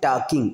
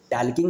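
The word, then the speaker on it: talking: Okay चलिए यहाँ देखिए, आ गर्ल वाज टॉकिंग, इसे क्या बोलते हैं, टॉकिंग। एक्चुअली यहाँ एल साइलेंट है, टॉकिंग नहीं होता है, टॉकिंग होता है।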